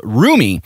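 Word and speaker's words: Rumi: the first single called roomie r-u-m-i i'm pretty sure that's how you would pronounce that roomie maybe remy i don't know so that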